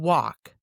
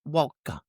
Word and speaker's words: walk: And walk, not walka.